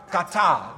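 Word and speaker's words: קטל: So the two words together, put together, you have katal. This is the word, katal. Katal is divided here into two syllables. The first syllable is ka, and the syllable following is tal.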